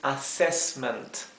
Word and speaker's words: assessment: La doble S se pronuncia como una S bien suave, siempre. Mientras que la S simple, generalmente, aunque no siempre, se pronuncia z, como un zumbido, z, como advertise, ¿verdad? No es z, es z. Advertise. Y aquí es assessment.